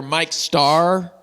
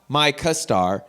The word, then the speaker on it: Mike Starr: Mike, Mikestarr. Mike Starr. Not Micah Star.